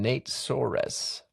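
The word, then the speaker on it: Nate Soares: This book was written by two people whose names I will probably mispronounce, but I'm going to try. That's Eleazar Yudkowski and Nate Sores.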